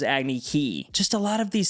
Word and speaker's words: Agni Kai: Instead of Agni Kai, it was Agni Kai.